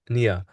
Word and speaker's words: Nia: And I'm scared to say the name wrong, eh? Nia. Oh God. Yes, That's the correct way to say it. yes. Okay. I was gonna say Naya, right? Nia.